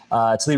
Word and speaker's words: Tlaib: the one from Michigan, Ilhan Rashid. No, I'm mispronouncing her name. Tlaib Rashid, and that's also anti-Semitism.